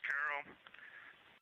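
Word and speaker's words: Carroll: Her name was Carol, the spouse of Reid, the mother of Katie and Ellie.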